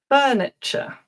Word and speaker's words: furniture: So, while you're thinking, words ending t u r e. This is another one where I commonly hear mistakes and the ending is pronounced ch. culture, furniture, adventure, future.